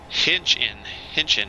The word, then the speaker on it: Hinchin: Hinchin, okay. Hinchin Farms. Man, I would have never thought it was pronounced that way, the way it's spelled, but makes sense. Okay, we need to turn this off.